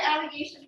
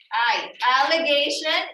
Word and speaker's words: alligation: You have your allegation packet, right?